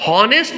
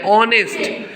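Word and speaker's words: honest: इज एन ऑनेस्ट person नेस्ट नहीं बोल रहे क्या बोल रहे हैं ऑनेस्ट एच इसमें साइलेंट है तो ये जो ऑनेस्ट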